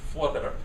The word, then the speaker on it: Voorwerp: So this is a true color picture of Hanny's Voorwerp, as it's now called. Now the Voorwerp, or she told me how to pronounce it, Voorwerp.